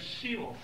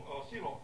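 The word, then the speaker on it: Sheol: Testament is usually translated of the Hebrew word SE so se s h e o l is the way you pronounce that se which is which is basically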